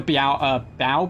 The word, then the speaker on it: bao: I also went to Bao Buns. That's how you pronounce it.